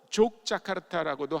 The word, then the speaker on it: 족자카르타: 이 그 인도네시아는 네덜란드의 지배를 오래 받았는데 네덜란드 사람들이 자기네식의 스펠링을 가르쳐 준 거예요. 그래서 그 사람들은 J라고 쓰고 Y라고 읽습니다. 그러니까 원래 그 도시의 이름이 욕야카르타인데 그거를 J라고 썼기 때문에 어떤 사람들은 그냥 그 도시를 족자카르타라고 읽습니다.